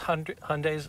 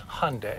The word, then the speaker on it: Hyundai: Yes, this is Hyundai's luxury brand, just like Lexus is Toyota's luxury brand. And how do we pronounce it? It's Hyundai. Hyundai. Like Sunday. Like Sunday. That's a good way to remember it.